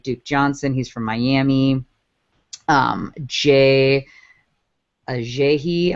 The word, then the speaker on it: Ajayi: Ajayi, I want to say is how you would say his name. Ajayi. There we go.